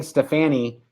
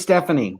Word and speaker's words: Stefani: I was saying Stefani. It's just Stephanie.